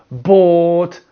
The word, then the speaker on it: bought: So, bought, thought, caught, brought. Okay? This is the or sound.